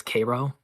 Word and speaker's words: Cairo: The Cairo in Illinois is pronounced relatively properly, but in Georgia it's Cairo. I got my Cairo's wrong. In Georgia it's pronounced Oh, Cairo.